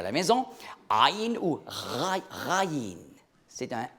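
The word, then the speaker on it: عين: Alors, des sons gutturaux, c'est comme par exemple en arabe, aïn, vous voyez, aïn, ça prononce très bas dans la gorge, aïn.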